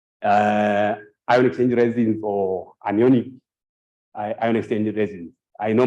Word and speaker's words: anion: either be casion uh ion exchange resins or anionic ion exchange resins I know my um my